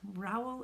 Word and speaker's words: Rowell: who know my name, Owl rhymes with my last name, so there is every chance that people will actually say it correctly.